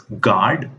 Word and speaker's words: guard: The next letter is U. Here, you don't have to pronounce the letter U. Try it. It's guard, biscuit, building, rough, tough.